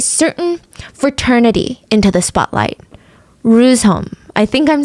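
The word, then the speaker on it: Reuzegom: Rusholm. I think I'm saying that right. It's spelled with a G, but I think it's pronounced H, right?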